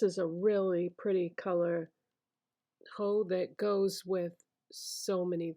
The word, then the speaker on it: Haux: going to use is Mac ho which is spelled haux this is a satin